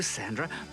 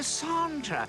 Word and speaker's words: Sandra: I've never met a dog like you, Sandra. No, Sandra. It's a French pronunciation.